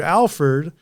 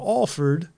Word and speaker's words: Alford: And, of course, he told me the story that for the longest time he mispronounced your name. He was calling you Alford instead of Alford.